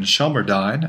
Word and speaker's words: Shelmerdine: But I'm looking forward to getting back to continuing on our work in Shelmerdine. I've discovered in the last 3 weeks that that's actually how Cynthia's last name is pronounced.